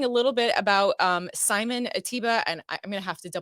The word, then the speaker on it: Ateba: people say Atiba, but it's actually Ateba.